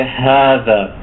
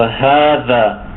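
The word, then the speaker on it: هذا: So proper pronunciation is important in Arabic. So when we say this is, we have to say hada. So hada.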